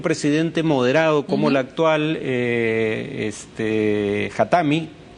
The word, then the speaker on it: Khatami: moderado como el actual Khatami. o Hatami, creo que es el acento en la I.